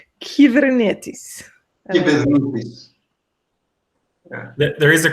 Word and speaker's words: Kubernetes: How you actually pronounce that, Nick? Kubernetes. Kubernetes.